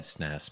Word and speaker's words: SNES: out snez is like the correct way of pronouncing it is the SNES they were asking which and they said snis but like who knows